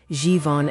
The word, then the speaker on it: Tsafon: We are naming the Zhifoning, Tsafon pronounced Zhivon extraction.